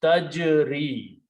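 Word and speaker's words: تَجْرِي: So we do not pronounce ya sound take over and the word becomes tajri. Tajri is the final word and it means she runs.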